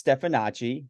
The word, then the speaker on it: Stefanacci: it up sure um it's stephanachi it's a whole bunch of syllables uh you know maybe a silent cue in there or something but um you know just just a little Italian a little Italian and